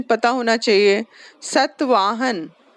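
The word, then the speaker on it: सातवाहन: सतवाहन, सात वाहन से सतवाहन है, सतवाहन। पढ़ो। हम्म हम्म हम्म Iran, Egypt, Burma, Malaya, Malaya. Okay, etcetera पे ब्रैकेट, एक मिनट, एक्सेट्रा पे ब्रैकेट क्लोज करो और द सतवाहन पैरा के स्टार्ट में स्टार्ट करो, ठीक है।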